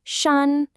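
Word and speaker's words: 山: The pronunciation is shan.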